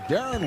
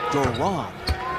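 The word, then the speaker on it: Deron: Williams at the line Darren Williams second year out of Illinois and says his first name is usually mispronounced says the PA guys often introduce him as Duron and he says he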